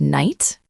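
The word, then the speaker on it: knight: They ask, why is there a K? Why is there a G-H? Why is it pronounced exactly the same as night, like the time of day?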